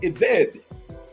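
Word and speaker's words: עבד: And so if you look at the Old Testament in the Hebrew, a slave, it calls him an Ebed, E-B-E-D, or pronounced Eved.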